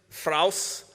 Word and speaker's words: Fraus: Previous winners were Lunar Love, Tower Offensive, Fraus, which rhymes with house, Pump the Frog, Symbio, and Colors of the Wind.